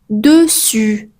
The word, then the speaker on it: dessus: deux s entre deux voyell cette lettre se prononce comme pas par exemple on dit dessin pas des mais dessin ou dessus dessus.